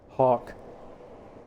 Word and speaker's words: Hawke: Because the E, I didn't realize that the E was silent.